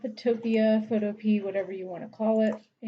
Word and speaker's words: Photopea: Apparently that is the correct pronunciation. Some people want to call it Photopea.